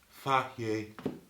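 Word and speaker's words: Fage: Anyway, this is like tzatziki that we made from the night before, and it's literally just made from Faye yogurt, pronounced Faye.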